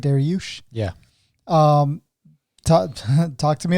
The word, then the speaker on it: Dariush: der yoush that's how you say it right daryush yeah um talk to me about this fight